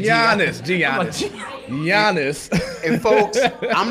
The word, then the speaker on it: Giannis: It's Giannis. You don't pronounce the G? Lord. Yeah, I knew that. I'm sorry. He said Giannis. Giannis.